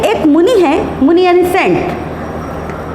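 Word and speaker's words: मुनेः: 5 number मुनेह। Pronunciation पे ध्यान रखो, यहाँ 2 मात्रा है, ऐ की मात्रा है, मुने।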